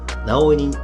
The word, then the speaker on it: 儺負人: この神男は直井人と呼ばれている。